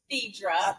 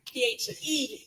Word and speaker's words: Phaedra: It's pronounced Phaedra. I told you guys. It's Phaedra. Phed. I don't know why everybody want to put the A in my name.